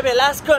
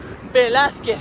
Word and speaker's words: Velázquez: Calle Velasco no, Velázquez, que creo que me he equivocado un par de veces.